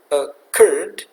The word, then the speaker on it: occurred: Nah, contoh kata occurred, stresnya di suku kata yang kedua, occurred, maka curd, R yang terakhir kita double, kemudian tambahkan ed di belakangnya.